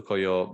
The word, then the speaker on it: Koio: hmm And I stumbled into, is it Koio? Is that how you pronounce Yep, it? exactly. Yeah, so I stumbled into Koyo more or less by chance.